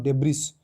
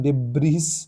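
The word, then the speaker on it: debris: मन रखिथिबे तरे 89 what is the correct pronunciation of डेब्रिस 89 number जो आपन रही सेटा ए हबो डेब्री जो लिखा है प्रोनाउंसिएशन डेब्रिस दो हबनी तो डेब्री हबो अपन मन रखिथिबे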